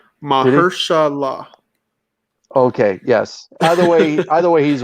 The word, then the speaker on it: Mahershala: Tyler just gave you a pronunciation. Mahershala.